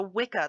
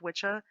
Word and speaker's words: Wicca: things evolve and change it's pronounced wicca it's not pronounced witcha please don't start pronouncing